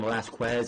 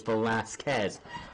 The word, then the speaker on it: Velasquez: Cain Velasquez, which I've heard people saying Velasquez, and it's like, that's not how you pronounce his name. It's Velasquez. Velasquez. Get it fucking right.